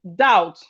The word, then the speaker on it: doubt: We have the first one is doubt. The first one is doubt. The first one is doubt. Doubt. The B in doubt is silent.